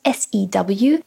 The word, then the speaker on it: sew: It is spelt S-E-W. It is pronounced sew. To sew. To make clothes. Pronounced in exactly the same way as S-O.